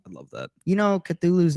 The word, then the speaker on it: Cthulhu: Our depiction of how we say it, Cthulhu, is not actually how you say it.